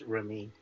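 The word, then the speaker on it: Raimi: I had the answer until someone Sam Ramy does uh Evil Dead, right? Mhm. Yes. Uh, god damn it. Where'd it go? Uh Sam, it's pronounced Remy.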